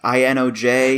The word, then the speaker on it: Inoj: Yeah, I had to look up how to say this person's name, because I was like, Inoj, I-N-O-J.